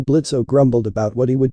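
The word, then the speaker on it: Blitzø: to do that here blitzo the O is silent the Imp in charge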